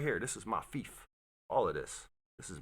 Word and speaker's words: fief: do with discipline anyways what's the word pronounced as Thief say it again Thief say it a different way Thief okay so the word